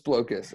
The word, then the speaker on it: Blokus: guys like you up the Creator says it's blow kiss I read it I read it again and